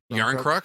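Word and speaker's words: Järnkrok: Yarncrook.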